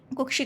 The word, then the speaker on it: कुक्षी: कुक्षी मतलब इसको प्रोनाउंस करने के लिए आपको ये ध्वनि आनी चाहिए, ये संयुक्त व्यंजन मैंने बताया था ना, तो कुक्षी मतलब का और शा का ध्यान ध्वनि थोड़ा सा आना चाहिए।